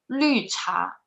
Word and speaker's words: 绿茶: Lü cha. Yeah, perfect. Yeah, lü, this pronunciation is a little bit hard to pronounce. So 绿茶, your tongue is rolling like 绿茶.